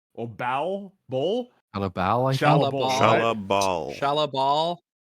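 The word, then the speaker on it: Shalla-Bal: And the Silver Surfer stops upon hearing her name, Shala Ball. Or Ball? Ball? Shala Ball, I think.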